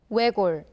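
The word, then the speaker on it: 외곬: 외골, 외골, 외골, 골, 골, 골. Here the 시옷 sound, as you have noticed, is silent and we only hear the 리을 sound.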